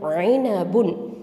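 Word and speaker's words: عنب: ஐனபுன். ஐன் கெசரா ஐ, noon ஃபத்ஹான ஐன, ப தொம்மத்தைன் புன், ஐனபுன். Okay, ஐனபுன். ஐன் நடுத்தொண்டையிலேருந்து உச்சரிக்கணும், ஐனபுன், சரியா?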